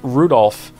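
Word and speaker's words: Rudolf: on it's just anyway this guy's name is pronounced Rudolph haha he must hate grandfather for giving him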